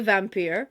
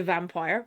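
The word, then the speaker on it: Vampyre: The vampir the vampire by John Bolydori. Now, I always say vampir because I'm hearing Lisa Simpson's voice in my head from Treehouse of Horror. Yes, vampir. But it is pronounced vampire.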